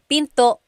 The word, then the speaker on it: pinto: And remember, don't forget the glottle stop. Don't forget to stop the sound at the end. That's called a glottle stop. Pinto.